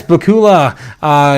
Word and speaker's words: Bakula: Yes, Bakula. Yes, is pronounced like Dracula.